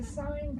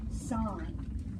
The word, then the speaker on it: sine: the equation for the sine curve is SI NX now I know when you look at that you think sin but that is pronounced sine so in this classroom